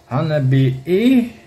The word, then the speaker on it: Hanabie: a band from japan called hanabi that's how i told to pronounce it i don't know it's